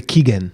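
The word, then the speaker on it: Giken: He said, don't call it Mura, call it Mura Keigen or something. Miura Gaiken or Gaiken. Miura Kigen. Kigen is how you pronounce it.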